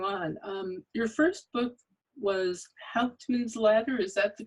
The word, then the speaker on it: Hauptmann's Ladder: Your first book was Hauptmann's Ladder, is that the correct pronunciation?